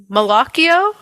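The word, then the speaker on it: malocchio: um and of course the malio I'm totally americanizing that pronunciation but it's the evil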